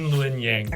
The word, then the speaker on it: Luen Yang: Yeah, it's Luen Yang.